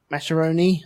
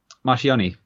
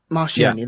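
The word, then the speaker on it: Marchionne: No, Mascheroni, I think you pronounce his name. He's like chief executive of Fiat. Marchioni. Marchioni, that's it, yeah.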